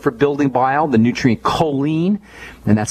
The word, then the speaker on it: choline: is very important for building bile the nutrient choline and that's spelled c h o l i n e choline can help maybe 200 to 500 milligrams